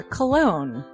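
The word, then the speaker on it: Colon: it it is a self-published book by Christopher cologne Chris cologne smells good to me look at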